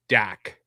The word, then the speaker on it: DAK: So like they'll call Disney's Animal Kingdom Dak. Yeah. Like Luke Skywalker's co-pilot.